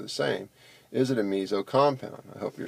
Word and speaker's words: meso: This compound is called a meso, pronounced more with a Z, not meso, meso compound.